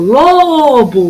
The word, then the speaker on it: lobo: O lobo. O que durou mais? O lô. Então, eu vou pintar o lô de lobo.